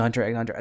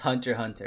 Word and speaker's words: Hunter x Hunter: I swear me, unless the X is silent.